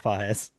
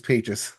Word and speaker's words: Pages: I'd love to if that was how you pronounce it, but no, it's Pas because I don't watch the Dodgers, but yes, he's pais.